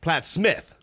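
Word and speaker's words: Plattsmouth: help with the pronunciation Platt's mouth is pronounced Platt Smith why I have no idea it just is also the museum of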